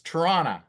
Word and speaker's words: Toronto: you're see it right it's torona so you say it like t r n n a toron is how now you sound like Earl